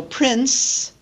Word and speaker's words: prince: make the pronunciation easier so Prince we add a t Prince Comfort we sometimes